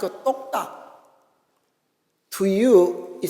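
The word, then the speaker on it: 똑딱: Do you know in Korean how tick-tock is pronounced? Tok-tak. We call that tok-tak.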